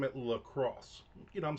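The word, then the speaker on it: LaCroix: So if it's not French and it's not pronounced Lacroy, what is the name of our product? Well, you may have guessed it. It shares it with the very city in which it was created. Lacrosse.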